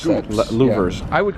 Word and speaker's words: louvres: I don't know how to call them pronounce that. scoops. Louvers.